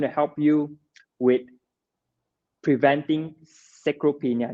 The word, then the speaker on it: sarcopenia: And the study shows that creatine is going to help you with preventing sarcopenia. Did I pronounce that correctly? Sarcopenia, which is Sarcopenia. sarcopenia.